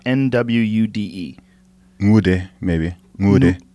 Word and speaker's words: Nwude: It's an N, but the pronunciation's a little bit different.